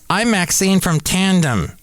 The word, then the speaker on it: Tandm: I'm Maxine from Tandem. That's spelled Tandm. Tandem.